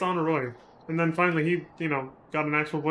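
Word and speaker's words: Honoroit: See, so when we first started, I always said Honora, and I was like, maybe it's Honoroy. And then finally he, got an actual voice actor and he said Honora, and I was like, fuck, I was saying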